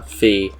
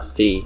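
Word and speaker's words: Fi: that is mentioning uh fee or phi or whatever you pronounce her as um i pronounce her as fee from skyward sword from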